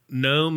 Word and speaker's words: gnome: just roll away laughing also gnome is spelled n for some reason yes yeah like home yes there's no G in this opposite of home